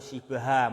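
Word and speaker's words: شبه: Itu shibha bacanya ya.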